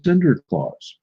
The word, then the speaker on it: Sinterklaas: And in Holland, in the Dutch language, it is pronounced Sinterklaas.